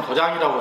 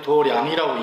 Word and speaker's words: 도량: 도량이라고 하는 말 아시죠 도량을 한문으로 쓰기엔 더 장이라고 썼는데 읽기는 돌이 아니라고 읽어요 근데 이거는 우리 절집에서 쓰는 말이에요 그냥 도량 태권도장하고 똑같은 말인데 태권도장할 때는 도장이라고 쓰고 절제비 얘기할 때는 도량이라고 읽고 그러는 거예요 삼보조명 같이 하지 도랑이